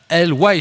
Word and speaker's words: LY: Voilà, c'est LY si je prononce bien, c'est ça ?